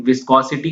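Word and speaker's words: viscous: Ratio of inertia force to द विस्कस, नॉट विस्कॉस, spelling गलत है, इसको ठीक कर लेना, इट्स द विस्कस फोर्स, ठीक है, विस्कस।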